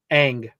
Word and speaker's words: Aang: His name is Ang. It's pronounced ang.